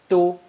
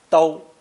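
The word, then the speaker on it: 都: Giving it the first tone pronunciations of du and dou.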